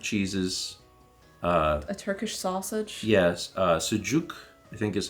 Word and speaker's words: sucuk: Yes, sucuk, I think is how it's pronounced, sucuk, which is like this mild, soft sausage.